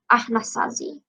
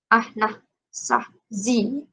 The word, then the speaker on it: Anasazi: One of the early farm cultures in the Southwest was the Anasazi, pronounced Ahnasazi. Ahnasazi. Ahnasazi.